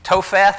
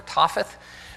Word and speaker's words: Topheth: um he desecrated uh topheth i guess is how that's pronounced or topheth which was in the